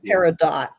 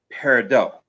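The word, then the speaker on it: peridot: yeah, it's spelled paradot. P E R E D O T. P E R I rather, you figure it's going to have the the French pronunciation, which would be parido.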